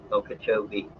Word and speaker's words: Okeechobee: Okeechobee is how locals say it.